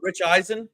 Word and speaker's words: Eisen: Who the what the is Rich Eisen?